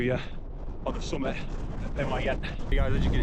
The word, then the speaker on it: Pen-y-ghent: So that's Pen-y-ghent, I think you pronounce it, Pen-y-ghent, and that is the first one, which I think is about 700 meters above sea level.